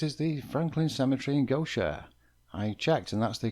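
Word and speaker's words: Gautier: At number six is the Franklin Cemetery in Gocher. I checked and that's the correct pronunciation of G A U T I E R.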